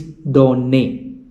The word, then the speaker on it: donne: It is not done or done, but it is donne. Since there are two n, there is a doubling of the sound.